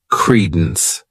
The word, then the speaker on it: credence: next noun is Credence this word has two syllables and the stress is on that first syllable Credence what it means is